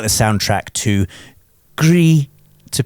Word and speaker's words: Gris: I really like the soundtrack to Gris, to pronounce it correctly.